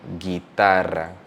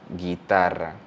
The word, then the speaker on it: guitarra: When G is followed by UI or UE, the U is silent and the G gets back its voice, its hard voice. So for example, guerra, guerra, or guitarra, guerra, guitarra.